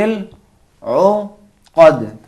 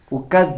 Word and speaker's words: العقد: ومن شر النفاثات فی العقد. قد نہیں پڑھیں گے، فی العقد. اگر کوئی اس طرح پڑھے ومن شر النفاثات فی العقد یہ غلط ہے، بلکہ تھوڑا سا اس لہجے کو چینج کرنا پڑے گا.